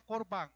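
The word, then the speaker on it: קָרְבָּן: vamos a la letra ofrenda que se pronuncia corbán en hebreo es otro era ismo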